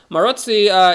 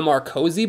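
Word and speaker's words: Maróczy: for the Maroczy bind, which for some reason Americans call the Marcozy bind, and I'm not someone to, you know, be a stickler about pronunciation, given how I'm saying Uwe's name probably 15 different kinds of wrong, but come on! The C comes after the O!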